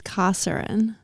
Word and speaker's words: Kosarin: It's Kosarin.